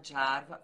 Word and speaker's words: Jarva: Bom, meu nome é Jarva, Jarva, Jarva porque eu casei aqui com meu marido, que é americano, Jarva porque é um nome finlandês, né? Por isso que se pronuncia dessa forma.